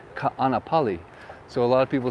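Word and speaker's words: Kāʻanapali: simple and uh where i live is uh canapali no no no it's ka anapali so a lot of people say canapali or i've that's amazing but it's not canopy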